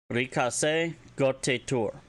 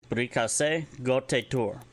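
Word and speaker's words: Briikase Gote'tuur: Brikase Gotitur. Standard term for happy birthday in Mandoa. Again, that is actually spelled B-R-I-I-K-A-S-E space G-O-T-E beten T-U-U-R. Brikase Gotitur.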